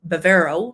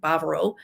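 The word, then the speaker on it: Bávaro: Everything tends to be so spread out there that unless you're in the Bavaro, or what most people say Bavaro, but it's actually Bavaro, is the correct pronunciation, region, that's where you're going to have a lot of nearby shops and restaurants.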